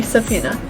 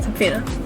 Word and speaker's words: subpoena: do you say it tell me how to pronounce it so okay subpoena okay subpoena okay so the corona revived pandemic has threat